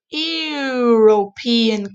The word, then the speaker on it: European: 80 percent european country european country what's the sound consonant or vowel oh european it's like the word you you you you like